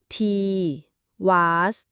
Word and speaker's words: Tiwaz: ตัว อักษร ที่ 17 ตีวาส ต่อ มา คือ อ่าน ว่า te was สัญลักษณ์ เป็น ลูก ศร